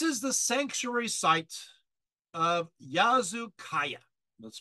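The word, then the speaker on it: Yazılıkaya: we go this is the sanctuary site of yazu Kaaya that's spelled y a z i l i k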